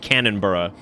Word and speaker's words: Cannonboro: Well, I mean like they would pronounce it like cannon bur would be like that's how you'd hear it.